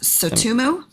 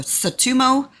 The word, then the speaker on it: Tsutomu: I think his name is pronounced Tsutomu Yamaguchi, like Christy Yamaguchi. So Tsutomu Yamaguchi survived both the